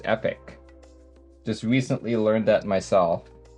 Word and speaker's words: Epoch: used to pronounce it epoch but it's actually pronounced epic just recently learned that